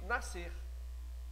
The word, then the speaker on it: nascer: No SC, eu pronuncio nascer. Ou seja, esse SC aí, essas duas letras estão fazendo o fonema de C. Seria um C cedilha, né?